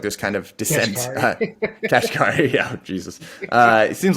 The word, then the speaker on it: Kashkari: So Bullard said something kind of different than, how do you pronounce his last name? Kaskrashahi. It seems like there's kind of dissent. Kashkari, yeah, Jesus.